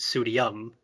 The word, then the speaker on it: Pseudiom: I pronounce it like I agree that I think you can also pronounce it pseudium, but I pronounce or pseudonym. I pronounce it pseudium as in IOM.